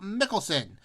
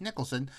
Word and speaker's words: Mickelson: golf hall of fame phil mickelson who i often mispronounce as nicholson uh phil mickelson at